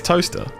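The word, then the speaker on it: Towcester: That's toaster. Yeah, Toaster. That's pronounced.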